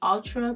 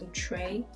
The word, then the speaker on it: Outre: I've been saying Outre, but I think it's pronounced Outre.